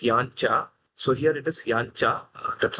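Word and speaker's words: यज्ञ: Yajnya uh is also sometimes people pronounce it and sometimes it is yancha. So here it is yancha.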